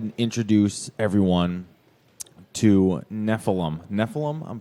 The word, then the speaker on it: Nephilim: we go ahead and introduce everyone to Nephilim Nephilim I'm pronouncing that correctly yes what did you guys